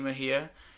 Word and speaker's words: Mejia: But yeah, so this is Danny Mejia. How you pronounce it? Yes, This is Danny Mejia, and you've been like requested to like be like people.